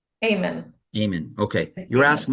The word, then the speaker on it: Aiman: It's Aiman. Amen.